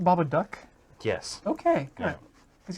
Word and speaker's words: Babadook: So is it pronounced Babadook?